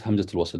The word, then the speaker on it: Hamzatul Wasl: Hamza, if it has fatha, you pronounce it as a. If it has kasra below it, you will pronounce it as e. If it has dhamma, you pronounce it as u.